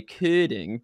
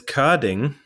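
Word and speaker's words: Körding: That's why I no longer even tell most people that I technically have two dots on my O, and therefore it is Kording instead of Kording.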